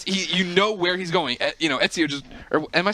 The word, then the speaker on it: Ezio: Ezio just. Or am I saying it wrong? Yeah, Ezio.